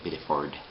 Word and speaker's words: Biddeford: talking about place names because Biddeford um you know that's the way the locals say it you know it's a bit of Ford um I don't know